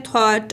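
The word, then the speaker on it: thought: यानी कि थॉट सोचना ये बोल ऐसे होता है थॉट और लिख ऐसे होता है सबसे पहले हमने करना है कि हफन को ऐड करना है।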